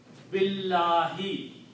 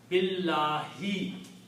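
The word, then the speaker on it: بالله: Then you do not pronounce this alif in between, you pronounce billahi.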